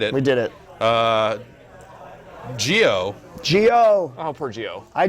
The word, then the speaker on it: Gio: Gio couldn't take the heat emanating from the video James character. It's a soft G.